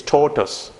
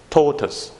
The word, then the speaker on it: tortoise: It's not tortoise, it's tortoise. Tortoise. Let me just show you how it sounds. Tortoise. That's all. 2 syllables.